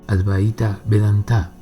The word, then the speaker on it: Advaita Vedanta: Para concentrarnos en lo "recomendado por el ADVAITA VEDANTA, (que aquellos que saben pronuncian Advaíta Vedantá) Los seguidores del Karma